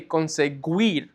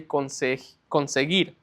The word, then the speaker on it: conseguir: So you wouldn't say conseguir, right? The U is silent. So you would just say conseguir.